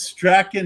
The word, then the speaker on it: Strahan: pronounce your name is stracking how you pronounce it no you absolutely nailed that and unlike uh Michael Strahan of the Colts who spells his name exactly the same but pronounces it completely different he got cut today